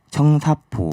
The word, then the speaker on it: 청사포: 그리고 부산의 성사포 마을이라고 해운대 옆에 작은 바닷가 마을처럼 성산포 마을. 청사포 청사포. 마을. 네, 제 발음이 그 청사포 마을입니다.